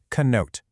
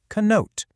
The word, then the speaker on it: connote: Go ahead, say it out loud with me right now, connote. Notice how that second syllable perfectly rhymes with boat? Connote.